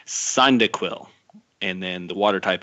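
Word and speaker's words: Cyndaquil: chikorita the fire type cycling dil side nope sorry mispronunciation son dick will and then the water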